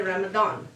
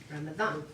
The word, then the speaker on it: Ramadan: The D is a TH in English pronunciation. You've been setting this up for me the whole time. I'm like, yay, she's saying it wrong. Yay! Because Americans all say Ramadan because it's a D, but it's a TH in Arabic.